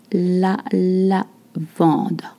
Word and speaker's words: lavande: La lavande. A. En. You just bring your lips. La Provence, different spelling. La lavande, la Provence. You don't voice the N sound.